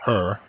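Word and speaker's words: H.E.R.: jump into topics this week h-e-r uh AKA her I know it's pronounced her I know it's pronounced her when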